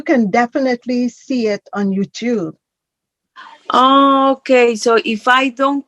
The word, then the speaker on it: YouTube: There is a B-E, but the E is silent. The YouTube. Tube. Tube. Like like Tuesday.